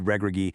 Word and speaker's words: Regragui: Back then, under former manager Walid Regragui, and yeah, you got to hit that hard guttural G when you say his name, the 2022 Atlas Lions relied really heavily on this brilliant contain and counter strategy.